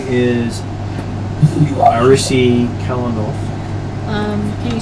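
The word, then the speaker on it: Aerisi Kalinoth: She says her name is Arisi Kalanoth. Can you spell that for me?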